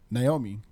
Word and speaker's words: Naomi: Spell your name and then pronounce it for Josh, please. Naomi. And pronounced? Naomi. You always say Naomi. Go back and listen. Everyone has always said Naomi my entire life. The only I is at the end of your name, right?